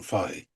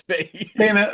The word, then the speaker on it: Fahey: The British way of pronouncing it is Fahey. If I saw that, so John Fahey.